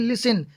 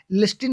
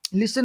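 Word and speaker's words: listen: एफ या एस हो, डब्लू के पहले एफ या एस हो तो टी का उच्चारण नहीं होता है। जैसे कि लिसन, लिस्टिन नहीं होता, लिसन होता है।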